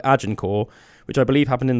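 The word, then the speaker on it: Agincourt: it was the 1400s if you look at Ajinor which is spelled A G I N and then court but all one word ajinor um and that was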